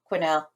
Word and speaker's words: Quesnel: She was donated to a museum in British Columbia that looks like it's pronounced Kesnel.